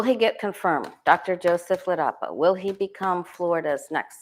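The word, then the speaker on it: Ladapo: So Rachel Maddow did a special last night, and I was talking to you about DeSantis Surgeon General Joseph Ledapo.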